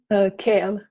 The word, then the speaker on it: Kiel: And you're in Kiel? Is that how you pronounce it? Kiel? Kale.